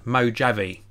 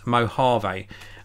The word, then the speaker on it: Mojave: nor really it's gonna be called Mac OS mojo V and I know it's not pronounced I like that Mac OS Mojave which has got a dark mode so this